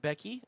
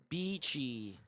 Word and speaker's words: Beachy: I pronounce it Becky. Okay, got you. I'll do it Becky. It's B-Chi. Beachy. Mm-hmm. Like peachy, but There you go.